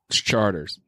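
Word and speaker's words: Chartres: talking to you 514 Chargers Street charters charter it's spelled CH a RT r yes it's Charter Louisiana charter street the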